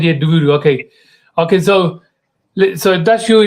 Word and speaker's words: Duvvuru: So did I say the how do you pronounce the surname? I said Sirisha Duvvuru. Duvvuru. That's what I said. Yeah, Duvvuru.